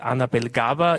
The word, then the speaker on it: Annabelle Gawer: To my, I was told Annabelle Gawer is the right way to pronounce it here in our cultural context.